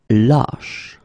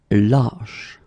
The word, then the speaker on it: lâche: Same thing here, when you get this circumflex, lâche. Okay, so this a is actually lower or deeper than the previous we had, okay? Ba, lâche.